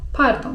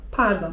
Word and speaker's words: pardon: Z kolei słówko 'przepraszam' to: pardon (czyt. pardon) Z francuskiego: pardon (czyt.